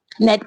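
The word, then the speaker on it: gnat: फिसू होता है ओके तो इसे क्या पढ़ेंगे हम नेट पढ़ेंगे जबकि स्पेलिंग क्या है जी एन ए टी नेट okay तो नेक्स्ट है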